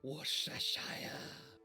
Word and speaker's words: Worcestershire: No, it's more properly pronounced Worcestershire.